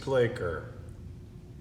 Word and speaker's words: Placher: room and to me that is mr plaker which rhymes with los angeles lakers see you next week